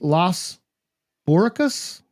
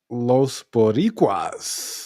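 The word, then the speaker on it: Los Boricuas: Legion of Doom defeat Los Boricus, Jesus Castillo, and Jose Estrada. Los Boricquas.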